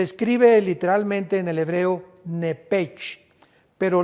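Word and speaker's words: נפש: literalmente en el hebreo nepech, pero la CH se pronuncia como J en el hebreo. Entonces podríamos decir que se le salió el nepej con J.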